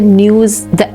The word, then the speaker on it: Neus: So basically, is it like a news? Is it like app-based platform? Yes, it is. It's an app. It's called news.ai. Again, a slight twist to news. The news is spelled as NEUS. News.